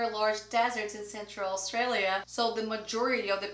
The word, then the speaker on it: Australia: And one of them is Australia. And be careful, because we don't say Australia, Australia. No, Australia, Australia.